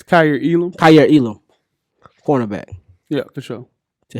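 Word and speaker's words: Kaiir Elam: Kyer Elam, cornerback, Yeah, for sure.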